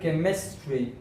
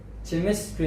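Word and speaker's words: chemistry: سره سکول، سکول، سکول، یا موږ کیمستري، کیمستري، چیمستري نه ویل کېږي، ک ک تلفظیږي.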